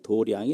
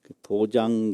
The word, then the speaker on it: 도량: 이런 말을 많이 쓰거든요 그런데 쓰기는 마 당장 짤을 쓰는데요 길도 짜 읽기 는 도량이 라고 읽어요 이런 불교 한문에 의미 파름 이 많이 있거든요 그 잘 구별해서 해야되요 도장 그러면 불교 모르는 사람이다 이렇게 알거든요 도량 그렇게 있는 게